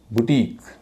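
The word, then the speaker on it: boutique: जब भी आप ऐसा शब्द देखें तो उस आई का उच्चारण हमेशा बड़ी ई होगा। यूनिक, टेक्निक, सो टेक्निक नहीं कहेंगे, यूनिक नहीं कहेंगे, यूनिक। इसी तरह बुटीक, इन सब में आई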